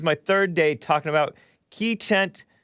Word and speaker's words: Keechant: third day talking about ki chent or kichant how do they how do you say it black keyshawn keyshawn k-e-e-c-h-a-n-t sewell she's the one who is